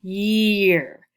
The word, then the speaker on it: year: amy they're both vowels two vowels next to each other and you only hear one vowel sound you hear e ye year year so you hear the long e sound the long e sound you hear no a sound in there just a long e so that's a special